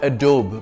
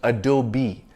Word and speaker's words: Adobe: It's not Adobe, but Adobe.